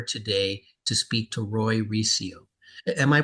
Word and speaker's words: Recio: the Deep honor today to speak to Roy reio am I pronouncing your last name right reio yes yeah so Roy uh is the founder